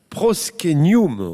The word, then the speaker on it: proscenium: la française mais c'est du latin ça se prononce proske new moon en fait qu'est ce que c'est ouais bah